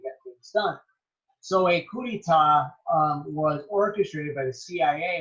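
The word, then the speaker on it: coup d'état: Actually, it doesn't mean that's how you say that. It's probably not even how you say it, but it's coup d'etat. That's how I learned how to say it.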